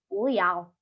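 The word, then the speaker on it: 不要: Cara bacanya puyao. Ini sebelum dimodulasi. Setelah dimodulasi akan dibaca menjadi puyao, puyao.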